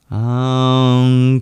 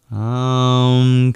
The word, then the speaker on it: Om: The O is long, and the two A's in Katya are long.